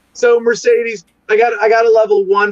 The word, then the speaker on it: Mercadies: It's like the car, it's Mercadies.